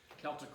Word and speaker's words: Celtic: Incidentally, we usually use the word with hard C as opposed to the Boston Celtics. That's the basketball team, spelled the same way. But you'll find that most people now are pronouncing this with the hard C, the Celt.